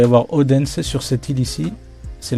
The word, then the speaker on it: Odense: Le D ne se prononce pas dans cette ville, sur cette ville-là, Odense. On dit Odense, du coup.